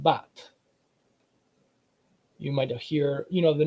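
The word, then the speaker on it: בת: In Hebrew, instead of banat, it's pronounced bat.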